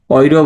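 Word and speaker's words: Euro: ইংলিশে আমরা জানি ইউরো, কিন্তু ওরা কি বলে অয়রো।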